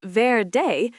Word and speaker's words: verde: Verde, pronounced verde, means green.